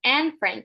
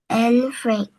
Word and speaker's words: Anne Frank: Her name is pronounced Anne Frank. Can you say that again? Anne Frank.